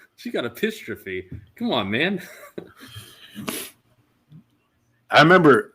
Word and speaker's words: epistrophe: I think it's actually pronounced apostrophe. EPISTROPHE.